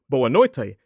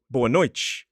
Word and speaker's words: boa noite: Likewise, in certain conditions, Brazilians will pronounce a T as more like a ch noise. So, for example, in the words boa noite, as I would read. Now, that pronunciation, boa noite, sounds a bit closer to Portuguese from Portugal, but a Brazilian would say it as boa noite.